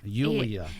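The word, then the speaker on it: Iuliia: It is Luliia. Luliia. Yes. I did come to the United States introducing myself as Julia for other people to, the easier way to pronounce it, but it is Luliia.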